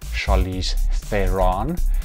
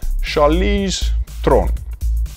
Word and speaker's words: Charlize Theron: charlie strong most people will know her as charlize theron and i know how upset people doesn't pronounce the synonym correctly it is charles tron anyway so um the actress playing maize is